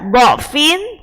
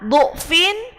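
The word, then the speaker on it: ضعف: Ketika jenengan mau baca do-nya itu dhammah, dhu'fin, dhu'fin, dhu'fan, maka harus dhammah semua. Jadi itu ada dua cara baca. Bisa dibaca dengan fathah, bisa dibaca dengan dhammah.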